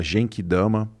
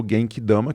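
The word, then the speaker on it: Genki Dama: na época da bandeira antes falava Jenk Dama ou Jenk Dama. E aí ele tava gravando o Dragon Ball Super e aí a pronúncia virou gank dama, que é como tem que ser.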